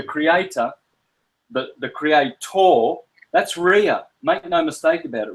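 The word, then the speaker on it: Rhea: Um it's spelled it's spelled like this. It's actually spelled with a H. Okay. That's Ria.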